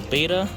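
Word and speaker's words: betta: Look at that beta, y'all. I know it's beta, but I pronounce it beta.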